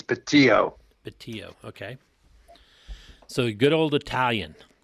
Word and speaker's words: Bettio: b d l okay actually the the pronunciation in italian it's patio okay so good old